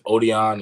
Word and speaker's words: Odion: All right, my first and last name is Odion.